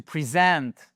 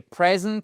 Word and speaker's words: present: To present, OK? Et present, un cadeau. To present, présenter quelqu'un à quelqu'un. Donc ça, c'est vraiment la difficulté de l'anglais. Savoir où se trouve ce stress, cet accent tonique, il est présent dans tous les mots qui ont 2 syllabes ou plus. Et parfois même, il modifie